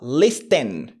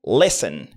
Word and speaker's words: listen: Lorsque vous voulez dire écouter en anglais, ne dites pas listen, mais plutôt listen. Did you get it? Again, listen.